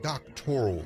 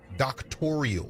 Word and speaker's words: doctoral: And if you listen carefully, the word doctoral in this conversation becomes a sticking point because she can't even pronounce the word. She pronounces it doctorial.